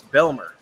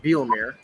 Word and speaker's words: Belmer: It's Belmer, not Bielmir.